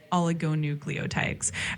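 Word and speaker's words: oligonucleotides: you pronounce that you're very close it's pronounced oligoucleotides um it's definitely a mouthful but it basically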